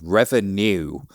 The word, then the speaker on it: Revenew: Because people like difficult to pronounce words, my second company is called Revenew, as in Reva, N-E-W.